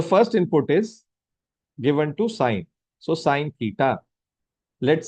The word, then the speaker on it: sine: Sine. So this is SIN. In short, it is written as sine. So don't pronounce SIN as sin.